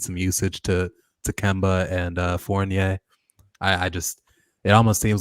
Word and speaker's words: Fournier: Fournier. It's like Battier.